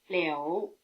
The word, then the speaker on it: liu: Except for the tone, they rhyme. Hou, You, Liu. Here you'd expect L-I-O-U, since the sound O is spelled O-U, but in fact there's no O.